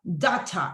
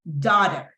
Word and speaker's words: daughter: Aquí 7. ustedes escuchan la T súper fuerte, como que mother, father, daughter, es porque es un inglés británico. Entonces el inglés británico tiene ese tipo de pronunciaciones, pero en inglés estadounidense es daughter, ¿verdad? Cualquiera de las dos maneras está correcta. Daughter o daughter.